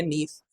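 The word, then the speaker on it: Nice: क्या हो रही है एक जगह है नीस स्पेलिंग उसकी ये है पर प्रोनंसिएशन उसकी है नीस तो ये हो रही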